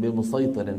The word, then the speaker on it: بمسيطر: قوله تعالى لست عليهم بمسيطر في الغاشيه تقراوا لحفص من طريق الشاطبيه بالصاد فقط واضح اخواني لذلك بالغاشيه